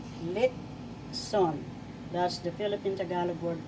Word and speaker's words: litson: the dialogue as well so i'm going to tell you first syllable lip second syllable sun lip sun that's the philippine tagalog